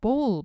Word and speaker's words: bowl: bowl 발음 주의하시고요. bowl이라고 오우 사운드 내시면 됩니다.